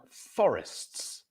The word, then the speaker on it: forests: So the stress syllable is on the first, fo, and then wrists, forests, costs and forests. So you have the at the end, and you pronounce each of those letters, costs and forests.